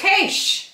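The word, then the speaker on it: quaich: It's a cache.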